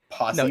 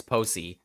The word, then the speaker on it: Posey: Also, that's not how you pronounce it. It's Posey or Posey. Actually, it's the second one.